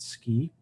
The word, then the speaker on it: SCI: Computing and imaging Institute the acronym is Sci and we pronounce it ski a little more about